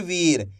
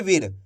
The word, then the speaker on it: वीर: अगर आप वीर पढ़ दोगे तो इस तरीके से छोटी ई की मात्रा का उच्चारण हो जाएगा। तो आपको ये गलती नहीं करनी, अच्छे से आपको समझ लेना है। बड़ी ई की मात्रा को खींच के पढ़ा जाता है, क्योंकि एक मात्रा इसी